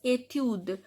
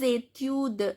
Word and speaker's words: études: Mes études, S is silent.